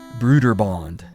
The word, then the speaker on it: Broderbund: Though Tim had always been working on the side, programming titles for Broder Bund, which I've heard is actually pronounced Bruder Bond.